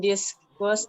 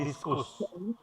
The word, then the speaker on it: discuss: Consider abstract nouns will discuss abstract nouns in more detail. Discuss, bukan diskus.